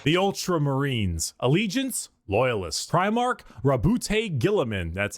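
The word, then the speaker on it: Roboute Guilliman: Primark Rabbout Gillamin.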